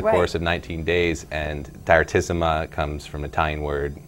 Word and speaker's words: Direttissima: I say Direttissima now.